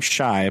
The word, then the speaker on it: Shy: It's just his name, Shy, but it's spelled Shiey. Oh yeah, the first date is Shy Chernobyl.